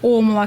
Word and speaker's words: OMLA: Вот, кстати, насчет произношения тоже правильно омла, но как-то закрепилось, и мне самой теперь больше нравится омла, когда ударение на первый слог, и есть такая возможность деления. Это слог ом и ла.